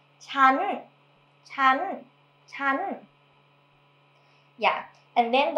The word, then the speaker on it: ฉัน: It's written as if it's pronounced chan, but nobody says chan. So people always say chan with the high tone, chan, chan, chan.